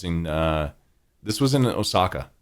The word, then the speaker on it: Osaka: uh this was in Osaka actually or Osaka if uh you were saying it Japanese style um with the Japanese you know pronunciation what have you I